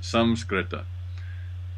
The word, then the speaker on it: Sanskrit: The actual pronunciation of Sanskrit is Samskrita. But, you know, if I say that, nobody's going to know what I mean.